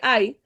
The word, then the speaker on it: Hai: viendo la ubicación de Ay dice que hay Porque se puede pronunciar así de las dos formas bueno se pronuncia de la misma forma se escribe diferente dice estaba situado al